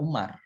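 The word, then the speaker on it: عمر: Jadi Amru, kalau nggak ada wawunya seperti ini dibacanya Umar.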